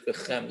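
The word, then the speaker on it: בחמלה: The way it should be said is B'Chemla.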